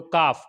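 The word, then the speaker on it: calf: rule में देखा है तो कफ कफ के अंदर क्या हुआ है एफ से पहले एल ए गया है तो एल क्या होगा साइलेंट होगा इसी तरीके से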